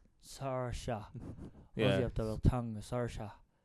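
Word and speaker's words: Saoirse: completely different way yeah it's s a o i r s e so see so I I would go like s but it's Sara Sara the tongue Sara s yeah the Irish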